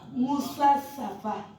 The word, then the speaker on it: Musafa: And now give the floor to Honorable Musafa. Is it Mustafa or Musafa? Musa Safa. Okay. Break it in syllables, sir.